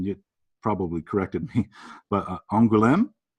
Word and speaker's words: Angoulême: this town, and you probably corrected me, but Angoulême? Angoulême, yeah.